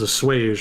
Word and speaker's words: assuage: to in order to assuage the protesters. It is assuage, right? I think I pronounced that wrong last time. Somebody corrected me in chat. Assuage. Let's see. Pronunciation, tell us.